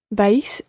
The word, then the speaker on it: vais: It's almost like one syllable. You're pronouncing it ever so slightly as two syllables there, vais. But run them together and just say vais.